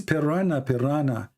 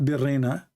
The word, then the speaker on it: piranha: It's piranha, not birena.